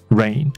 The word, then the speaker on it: reign: 以 a longer reign, reign 这个字跟下雨的发音是一样哦，那它的拼法是 R-E-I-G-N, rain, 那还有一